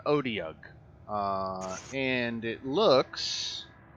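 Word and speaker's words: otyugh: guys what is it i guess it's pronounced odi um it's called an odeok uh and it looks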